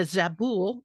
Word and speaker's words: Zabul: civilian representative for the U.S government in the zabul is did I pronounce that correctly correct yeah province so that's